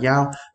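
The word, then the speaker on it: 幺: Thì ở chỗ này chúng ta sẽ không nói là y mà mình sẽ đọc là yao.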